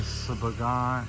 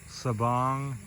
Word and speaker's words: Sabang: on the we're uh up the roads in suban how do you say it again sabang sabang the BR Guy back to the resort